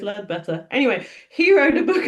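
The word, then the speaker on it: Leadbeater: Lead Better who you you might read it and say his name is Lebea or Leba. I've had arguments with people about how you say this guy's name. I'm going to say it's led better.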